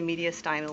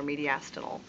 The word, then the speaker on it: mediastinal: And then we have this funny little guy in the middle that's rather conical in shape, and that's the mediastinal or mediastinal, stress on either syllable, doesn't matter, lobe of the lungs.